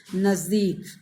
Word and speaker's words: नज़दीक: आप इसका उच्चारण पर ध्यान देंगे। इसमें आप जब इसका आप नुक्ता वाले शब्द यानी बिंदु का प्रयोग करते हैं तो यहाँ आपका उच्चारण नाक से हो जाएगा, नज़दीक।